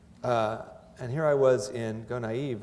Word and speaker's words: Gonaïves: The only time I'd seen this person was in the same city in 2004, when Gonaïves, that's how you pronounce it, was hit by Tropical Storm Jean.